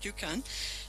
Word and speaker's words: Dukan: Just last week, together with our UNDP colleagues in Bangladesh, we launched an online platform, Dukan, I mispronounce it, we say Duchan in the Balkans, but Dukan, to connect Arabic speakers